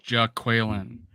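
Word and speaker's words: Jaquelin: LSU defensive lineman that has a particularly female spelled name pronounced in a male way who knows but we'll see we gotta we got an official pronunciation now it's Jack Whelan I got two sources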